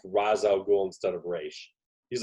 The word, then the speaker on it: Ra's: So I know it's Raish, but why did they go with Raz?